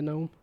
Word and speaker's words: gnome: get for being a gnome I do hope I'm reading that right that's sure what it looks like it's trying to be with the uh separating the G yeah the silent G on gnome it's definitely one of